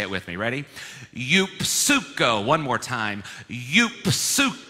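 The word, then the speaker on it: εὐψυχῶ: Greek it's not pronounced you psycho you actually pronounce that P and the S the why instead of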